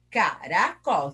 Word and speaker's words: caracol: Eu chamo a palavra, ó, caracol. Qual que eu falei mais? O col. Então, o col é o mais forte.